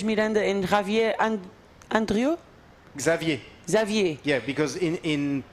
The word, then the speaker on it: Xavier: yeah because in in in Portuguese the X will become a sh but in French it's a oh wow okay Xavier Andre and the last X you don't pronounce yeah okay so zavier